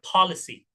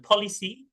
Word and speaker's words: policy: yang terbalik ini suaranya cenderung ke O ya, policy. Policy. Yang ini A, policy. Policy. Policy. Nah, yang E terbalik seperti ini, itu dibacanya E. Jadi, mau policy atau policy, dua-duanya oke. Ya. Yang jelas bukan polisi atau ininya dibaca I.